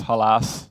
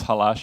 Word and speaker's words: Halasz: my name is I pronounce my name as Hollis not as hellish as polish people would think we had this deal